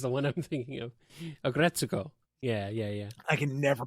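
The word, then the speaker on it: Aggretsuko: He's really into Aggretto. He just really loves that slice of life and the screamo metal segments. It's very cathartic. Okay, that is the one I'm thinking of. Agretsuko.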